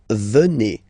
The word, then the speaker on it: venez: Okay, then classic ending for vous, EZ here, and then you pronounce it et, vous venez, vous venez.